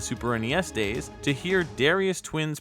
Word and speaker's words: Darius: the game after him darius the grey is important to mention because his name comes from the greek name which is pronounced but the da almost sounds like tha here's a google comparison